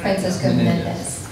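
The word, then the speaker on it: Francisco Menéndez: Francisco Menendez.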